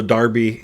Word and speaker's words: Derby: is that East Midlands it's the Midlands uh Darby sure um and also Darby d e rby y that's how they pronounces this Darby is uh the term they use for like